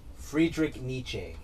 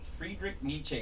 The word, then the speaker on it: Friedrich Nietzsche: is appropriate this is from how do you pronounce his love johnny frederick friedrich nietzsche friedrich nietzsche without music life would be a mistake that